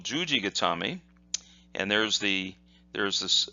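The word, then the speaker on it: 十字固め: look like this and that's read jus with a long sound G and then got Tommy okay so what does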